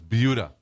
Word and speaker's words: Buda: No, it's not Buda, it's Buda. They get upset if you call it Buda, but it's spelled B-U-D-A.